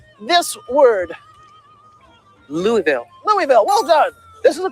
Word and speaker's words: Louisville: Can you pronounce this word? Louisville. Louisville, well done.